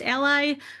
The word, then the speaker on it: a11y: a and y and is often pronounced ally which is a play on words emphasizing allyship and the importance of actively advocating to ensure everyone is included.